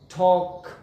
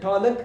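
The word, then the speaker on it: talk: ټاک ټاک که احیانا تاسو ټالک تلفظوئ غلط دی.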